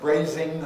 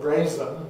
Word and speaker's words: brazen: correction away from it i also once heard somebody referred to as a brazing hussy and that's the word brazen made of grass that's